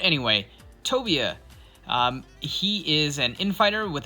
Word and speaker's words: Tobia: So here we have Tobia. I'm hoping I pronounced that right this time. I don't know why I pronounced it Tobai. Not sure why. But anyway, Tobia.